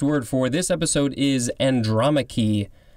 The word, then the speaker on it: Andromache: First word for this episode is andromache. I think that is how it's pronounced. Capital A-N-D-R-O-M-A-C-H-E.